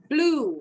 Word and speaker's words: blew: Kalau ada kata akhirannya EW, bunyinya U.